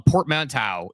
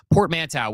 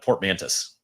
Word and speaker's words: portmanteau: I'm glad you pronounced it because I would have called it portmantis. Yeah. Well, the S is actually only there because it's plural, so just ignore that one.